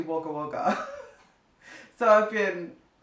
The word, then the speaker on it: Wagga Wagga: video i believe um i was pronouncing the place that zara grew up in as wagga wagga and someone in australia actually commented on the video and let me know that it's actually wagga wagga so i've been it's